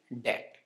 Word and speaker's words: debt: improve your pronunciation skills let's start with debt yes it's not debt it is that actually same